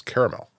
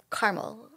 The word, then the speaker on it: caramel: which as I've stated the correct pronunciation of this word is caramel correct well or Carmel I think you know